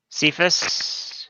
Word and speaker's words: Cephas: Cephas.